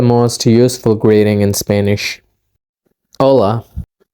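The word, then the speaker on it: Hola: in Spanish part two hello Ola is actually pronounced Ola in Spanish yes we did cover that in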